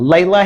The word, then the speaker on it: Leila: Leila has two syllables and the fact that as I mentioned earlier the ai makes the long a sound but the a on the end is making a sound that's like uh which is not long or short.